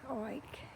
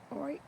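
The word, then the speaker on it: Oich: This is Loch Oik. Oik. The guy told me how to say it, and it's like you're saying Oive if you're Jewish. Loch Oik.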